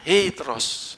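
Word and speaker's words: ἕτερος: ini sama ini ini namanya eteros hetero itu loh tulisannya juga seperti ini e terus ada bacanya heteros heteros yang lain ini lain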